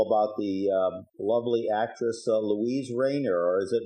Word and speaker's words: Rainer: story to tell about the lovely actress Louise Rainer, or is it Rainier? How do you pronounce her last name? Rainer.